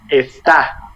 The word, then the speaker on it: está: But this is está. You see the difference? Do you hear? Esta, está. Este, este. With accent in the last one.